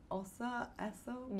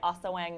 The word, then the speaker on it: Ase Wang: Ase Wang is the right way to say it.